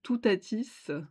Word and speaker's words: Teutates: Et puis ici, on retrouve aussi des tons de vert et beaucoup de jaune avec Teutates, je pense que ça se prononce comme ça, Teutates ou Toutatis, hein, qu'on connaît, grâce à Astérix et Obélix.